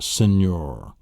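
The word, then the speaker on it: señor: canon, or the word senor, and your Spanish word for mister. And it's a nasal sound. It's an NY sound. Senor, canon.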